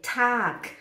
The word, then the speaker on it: Tag: Em alemão a gente fala Tag, não é Tag, é Tag. Mas já que está escrito com G, T-A-G, estou aqui, olha, com a palavra do número 22.